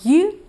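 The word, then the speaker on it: Ю: The letter U is pronounced like the word you, but faster. It's also a combination of two sounds, Y and U.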